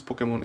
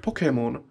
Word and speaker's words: Pokemon: The word Pokemon should be pronounced as Pokemon, not Pokemon. There is no U. It comes from pocket, no pocket.